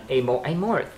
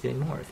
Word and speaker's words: Amorth: Did totally butcher the pronunciation on Amorth. T-H, it's Amorth, but Amort.